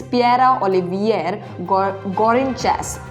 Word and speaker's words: Pierre-Olivier Gourinchas: His name is Pierre-Olivier Gourinchas. That's the correct pronunciation.